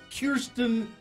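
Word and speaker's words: Kirstjen: She has a Norwegian, a Nordic-sounding name, Kirsten Nielsen. With a silent J.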